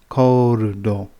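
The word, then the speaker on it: コールド: right at the bottom, and it would be pronounced koldo.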